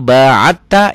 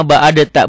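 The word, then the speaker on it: باعدت: Allahumma ba'id baini wa baina khotoyaya kama ba'atta. Ini tuh. Ini kalau nggak belajar tajwid bacanya kama ba'adata. Bukan, ini diidghamkan ke sini.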